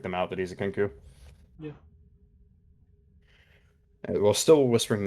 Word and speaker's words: Kenku: Poe's a Kenku, right?